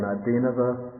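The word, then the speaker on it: ādīnava: The ordinary N, like in Adinava, it's pronounced with the teeth against the roof of the mouth, the tongue against the teeth. We call that a dental N.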